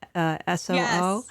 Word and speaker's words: Sioux: Is that how you say it? SOO? Yes.